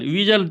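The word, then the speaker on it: whistle: विजल तो यहां पे एच एंड टी क्या होता था?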